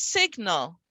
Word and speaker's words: signal: But as soon as I add a suffix on, the GN is only the N sound when it's at the end of a word. So here it's signal, and both are pronounced, right?